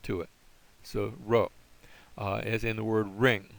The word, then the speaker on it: rho: looks like a P, but this is the rho. This is the rho sound, and it has a R sound to it. So rho, as in the word ring or revolve.